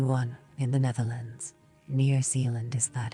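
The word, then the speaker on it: Zeeland: Near Zealand, is that how you pronounce it?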